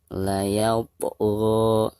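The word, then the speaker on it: لا يطغى: Baik, selanjutnya layaupo. Perhatikan di sini ada po sukun sekaligus posisinya ada di tengah-tengah bacaan. Maka dihukumi qalqalah sugro dan cara membacanya harus dipantulkan dengan suara pantulan yang tipis ya.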